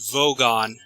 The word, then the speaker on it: Vogon: It's pronounced Vogon. Vogon, yeah.